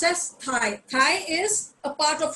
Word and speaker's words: Thai: Thai because इनका जो H है वो it is this T and H is pronounced as one. So it is Thailand. हम लोग जैसे TIE Thai बोलते हैं ना, TIE. So it is pronounced like this.